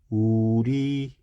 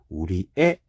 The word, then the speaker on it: 우리의: 조사기 때문에 4번 규정에 의해서 우리의도 괜찮고 우리애 해도 괜찮아가 되는 겁니다.